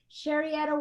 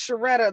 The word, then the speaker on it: Sherietta: her to unmute but sherietta let's try it again sharia are you there hi yes i'm here hey girl how are you hi i'm doing wonderful my name is pronounced shereta though it sounds so